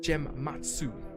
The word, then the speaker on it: Gematsu: Eurogamer and Gematsu, that's how you say it, Gematsu.